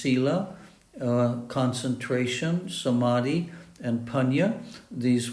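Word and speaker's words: sīla: It includes moral conduct, virtue, morality, pronounced sila, concentration, samadhi, and panya.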